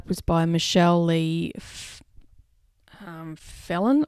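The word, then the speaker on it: Phelan: by michelle lee um felon i think you pronounce her name it's p-h-e-l-a-n she is also another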